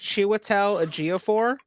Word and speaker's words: Chiwetel Ejiofor: If I can do it correctly, I think it's pronounced Chiwetel Ejiofor.